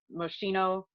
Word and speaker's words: Moschino: um 500 um dolls of those and a moschino i believe that's how you say his name